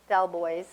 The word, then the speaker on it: Delbois: So now I'm going to introduce Michelle Delbois, not the French pronunciation, from Remo.